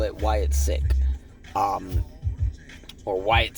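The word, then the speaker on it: Wyatt Sicks: say it right cuz it's sick the word sick s i c k with the S at the end uh so we're go we'll just call it Wyatt sick um or Wyatt 6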